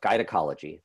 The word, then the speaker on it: GUYnecology: But today we're going to talk about gynecology. That is spelled G-U-Y-N-E-C-O-L-O-G-Y, gynecology, which argues that the historical